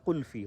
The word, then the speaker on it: قلفی: رفتہ رفتہ وہ فا اور لا انٹرچینج ہوئے اور وہ قلفی ہو گیا. تو جو اردو تلفظ جن کا ذرا ٹھیک ہے وہ اس کو قلفی کہہ لیتے ہیں، جن کا نہیں ہے وہ کلفی کہہ لیتے ہیں.